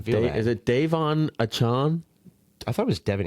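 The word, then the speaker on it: Achane: A-chan or A-chain? Achan. How is it? Achan.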